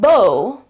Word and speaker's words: beau: uh in French and the spelling is the French spelling. So it's b e a u but the pronunciation is bo and it was used